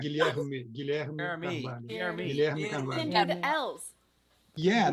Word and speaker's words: Guilherme Carvalho: Guilherme Carvalho. Oh, there's no Guillermo way. Cavallo. That's just No, not not O at the end. Guilherme Carvalho.